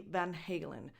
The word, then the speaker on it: Van Halen: the Dutch way, but the official pronunciation of the band name appears to be Van Halen, according to the English phonetics.